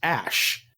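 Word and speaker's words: Æ: letter x and then the ae is pronounced ash yeah and then the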